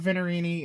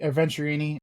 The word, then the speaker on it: Venturini: gotta see this place um we talked about venerini and obviously venturini I keep on mispronouncing it we've talked about venturini and the